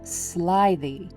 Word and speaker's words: slithy: Pronounce slithy as if it were two words, sly the.